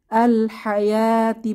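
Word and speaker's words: ٱلْحَيَوٰةِ: তো কিভাবে এখানে দেখি আল হায়াতি পড়বো মাঝে যে ওয়াও এটা উচ্চারণে আসবে না নো সাইন নো সাউন্ড আসসালাতা আরহামি উলাইকা ওয়ালাবান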